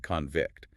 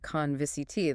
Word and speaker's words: convict: As we noted before, English uses stress to distinguish between a noun and a verb, like convict, the noun with stress on the first syllable. And conviciti, the verb stressed on the second.